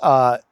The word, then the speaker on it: Jarun: And the name I came up with was Yarun. Jarun. J is pronounced Y in back then.